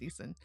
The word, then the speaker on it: Eason: Yeah, and Easton is spelled Eason, not Correct. Easton. It's just Easton.